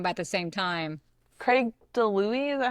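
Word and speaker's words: DiLouie: Craig DeLuey, is that how we say his name?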